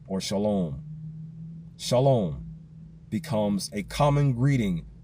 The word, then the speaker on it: shalom: Some people spell it with an S-H-L-A-W-M, like the word lawn, green grounds, just with an M on the end. Shalom.